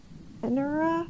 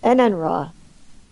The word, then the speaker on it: Enenra: my favorite yokai for Nioh 2 was it Enura? Is that how you pronounce it? So you smash them together. Oh, nice. Why is there an at? Is there an at? Enenra? Enenra.